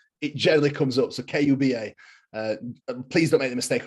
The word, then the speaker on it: Kuba: It's just like Cuba, but spelled with a K.